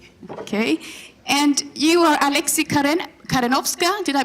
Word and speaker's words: Karenowska: And you are Alexey Karen-Karenoska. Did I pronounce that right?